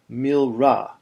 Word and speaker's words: milra: We call this type of accent milra, when the final syllable of the word is accented.